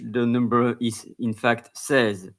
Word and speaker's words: seize: then in French the number is in fact says s e i z e says but in English it's pronounced se's it's written the same but c's in English